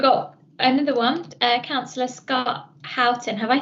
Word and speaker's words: Houghton: So we've got another one, Councillor Scott Houghton. Have I said that correctly? I realise I've never asked you how to pronounce your surname. I actually pronounce it Horton because I'm from up north. Horton.